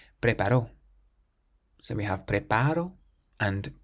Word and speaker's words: preparó: But then the next word has an accent on the O on the end, preparó. This means he prepared, preparó.